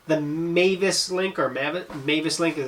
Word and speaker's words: MavisLink: This is called the MavisLink, or MavisLink is how I would actually pronounce it.